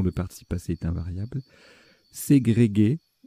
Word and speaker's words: ségrégué: Ségrégué, qui s'écrit, qui se dit aussi ségrégé sans le U, et subdélégué pour frimer.